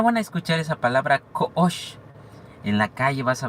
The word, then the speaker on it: Ko'ox: Koosh es Koosh. Koosh. ¿Ya? Lo pueden pronunciar, inténtenlo, es muy sencillo.